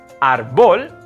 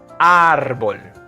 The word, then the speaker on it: árbol: Árbol. You see that accent mark on top of the A? That'll be árbol. It's not on the O, it's on the A. So it's not árbol, it's árbol.